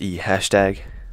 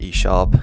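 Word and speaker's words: E♯: So by the way, please don't pronounce this E hashtag. It's pronounced E sharp. This isn't a hashtag, it's a sharp.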